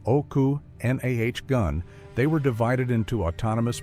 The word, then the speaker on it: Okanagan: pronounced oku nahh gun.